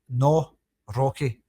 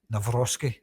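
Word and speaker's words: Nawrocki: It's spelled no n a w like saying no in Scotland. No, it's to me that's I I say as I see it. No rocky. No, not navoski.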